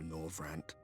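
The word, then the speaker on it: Norvrandt: the first the flood was poised to swallow nor rant oh that's how you say it I will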